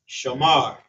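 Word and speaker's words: שמר: Shamar. Shamar. So he watched. How shamar. That's how you say it.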